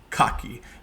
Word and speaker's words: Kagie: Now, a quick note on Rudie Kagie, and I might get that wrong and say Kagie because that's how it's spelled in English, but Rudie Kagie, because he's going to be the central voice of what follows.